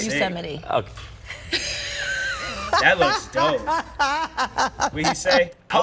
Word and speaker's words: Yosemite: It's Yosemite, bro. Like, just, man. All right, forget. She sounded like she said it weird, too. How did she say it? Yosemite's Firefall. Yeah, Did I pronounce that right? Yosemite.